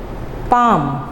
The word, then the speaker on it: palm: पाम, L silent है, PALM, पाम। L silent है, खामोश है।